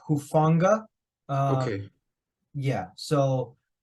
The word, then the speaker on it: Hufanga: I think he pronounces it Hufanga.